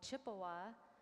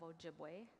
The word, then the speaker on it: Ojibwe: So Chippewa is a mispronunciation of Ojibwe, and in the language it would be Anishinaabe.